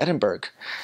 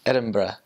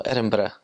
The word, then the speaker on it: Edinburgh: I was like oh I'm going to go to Edinburg and she's like no never say that again that's not how you say it I like oh it's like it's Edinburgh so Edinburgh it's they also roll